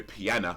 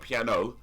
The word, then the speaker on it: piano: But the version that I like, that I really like, is the Maurice Rocco version, where he's playing the piano, not piano. Piano, gotta say it right.